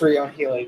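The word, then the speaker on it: Ryon Healy: Well, I believe it is Ryan Healy because his name is spelled R-Y-O-N.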